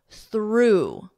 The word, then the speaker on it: through: Thorough, laugh, f, with that F, laugh, laugh, through, through. The past simple of the verb throw, through, exact same pronunciation, through, through.